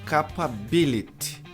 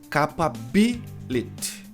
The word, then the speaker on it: capability: Por exemplo, capability. Então tem alguns problemas aqui. Primeiro que é K. K. K. A tônica tá no B.